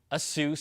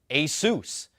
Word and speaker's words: Asus: again Asus thank you see it's not Aus or Asus it's Asus and you know I